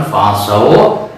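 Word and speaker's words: فعصوا: Nah ini pun fa'asau, cara membacanya dilayinkan, dilembutkan seperti halnya Fir'aunu.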